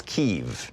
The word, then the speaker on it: Kyiv: Embassy in Kiev, or what used to be pronounced as Kiev. I guess it's Kyiv now.